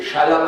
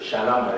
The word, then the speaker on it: Shalom: qu'il faut mais c'est Shalom àem c'est un ch qui se prononce dans le fond de la gorge qui sonne comme un air un peu normalement si